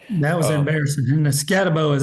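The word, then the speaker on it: Skattebo: wrong about that that was embarrassing and the scabo is how you say his name anyway scabo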